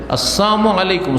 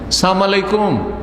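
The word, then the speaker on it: السلام عليكم: আসসালামু আলাইকা ইয়া রাসূলুল্লাহ না বলে আসসালামু আলাইক, আসসালামু আলাইকা, আসসালামু আলাইকুম না বলে কি বলে আসসালামু আলাইকুম। সালাম মানে হচ্ছে শান্তি, আর সাম মানে হচ্ছে মৃত্যু, সাম মানে হচ্ছে মৃত্যু।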